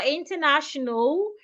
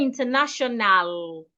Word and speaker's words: international: So we don't say international international. The letter a after the n after the second n is silent.